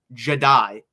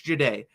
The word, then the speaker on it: Jahdae: They mispronounced Jahdae Barron's name. Jedi. He's not a Jedi. It's not Jedi. It's Jahdae.